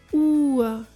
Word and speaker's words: Uhr: As you can see with the pronunciation of O and U, the correct pronunciation of the vowels is vital, since it significantly changes the word's meaning if you pronounce one incorrectly.